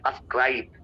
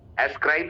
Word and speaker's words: ascribe: श्रेय देने को बोलते हैं अस्क्राइब, एस्क्राइब नहीं, अस्क्राइब, यहाँ प्रोनाउंसिएशन है।